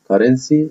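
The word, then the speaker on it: currency: وهنا هنتكلم على كارنسي اللي هي العمله, وهنا السي بتنطق كي والسي التانية بتنطق سي. ليه؟ لأن السي هنا جاي بعدها يو, لكن السي التانية جاي بعدها واي, واحنا قلنا السي لو جاي بعدها اي او اي او واي بتنطق سي, يبقى هنا نطقها ايه كارنسي اللي هي ايه العملة.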